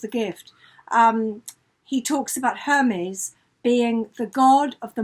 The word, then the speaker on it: Hermes: hyde talks about her i just pronounced him as the scarf not the god exactly yes it's a very old shirt in in lewis wonderful books a gift he talks about hermes being the god of